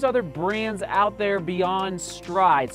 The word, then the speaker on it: Stryd: brands out there beyond stride so stride is spelled st are yd and does it help